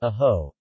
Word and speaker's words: ako: Ako is pronounced as aho.